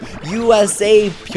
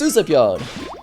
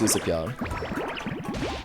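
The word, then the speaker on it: Usapyon: goes oh this is us or he says USA P and's like no no no it's uspon so yeah it it is pronounced uspon pman pone says 101 leafy do the 3,000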